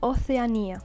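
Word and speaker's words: Oceanía: is Asia oania oania you see again written the same but with the ti on top of the I which means that the pronunciation Falls here so oania Anar antara is Antarctica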